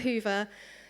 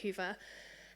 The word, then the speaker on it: Hyvä: a Magento front end even if it does get pronounced in many different ways we don't really care how you pronounce it um I know that hea is quite a popular pronunciation in Italy um as long as the meaning Rings through then we don't mind how you pronounce it you can pronounce it however you like um as long as you